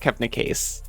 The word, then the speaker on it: Kebnekaise: I would pronounce that Kebnekaise, but it's pronounced how it's spelled.